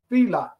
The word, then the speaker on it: Fila: it's like the shoe Fela there you go now hope she's listening to that little Miss smarty where you at now I say the same thing it's Fela f i l a so I say and